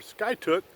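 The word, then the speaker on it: Skiatook: ski it took s ki ATO ok our sky took as some of the locals were pronouncing it so we stayed here for a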